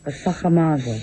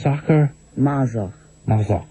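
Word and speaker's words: Sacher-Masoch: Pronounce the name of the family. Sacher Masoch. Sacher Masoch.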